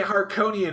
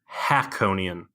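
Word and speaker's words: Harkonnen: I kept wanting to say Harkonian every time I watched it, just because it's not Harkonian, it's Hakonian. Hakonian.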